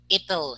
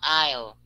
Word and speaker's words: it'll: clarify a little bit this word is ital it's not isle it is a construction from it will so it becomes ital and then it's preservatives